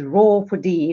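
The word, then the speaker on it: ROER4D: education resources for development the abbreviation reads ROA are for D but we choose being from Africa to pronounce that as raw for de like a lion and raw for D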